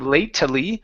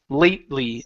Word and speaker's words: lately: the word lately the the e in this word is not pronounced so instead of latly it's lately lately lately okay very